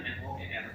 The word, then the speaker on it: Noer: Kalau saya orang zaman dulu mungkin tulisannya NOER, Noer ya. Tapi bacanya sama kan?